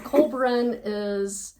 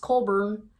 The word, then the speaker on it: Collbran: Okay, so Colburn it's spelled Collbran, Colbran. It's pronounced Colburn.